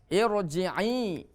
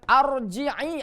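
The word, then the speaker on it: ارجعي: Nah, bukan arji'i atau urji'i. Ya. Hamzah wasol yang tidak diikuti huruf lam, maka kuncinya adalah huruf yang ketiga. Kalau huruf ketiganya bukan dhammah, berarti harus i.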